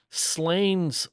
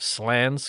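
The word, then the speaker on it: Slains: Uh, she says that is Slain's Castle. I'm sure that's not how you say it. How do the Scottish say it? Slans Castle.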